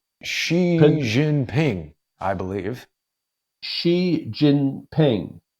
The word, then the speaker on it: Xi Jinping: shaking the hands of President how do you pronounce his name xie xie jun ping I believe Xi Jinping right so you've got Obama the President of